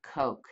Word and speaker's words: Koch: his name is robert koch if you were german you'd pronounce it Koch so he lived about